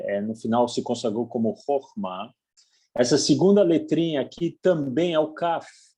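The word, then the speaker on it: חכמה: E essa última letrinha aqui, o Re, também equivale ao H em português. E como não tem nenhum sinalzinho de vogal embaixo, não é pronunciado aqui nenhum H. Como se tivesse uma palavra com um H no final. Você não pronuncia.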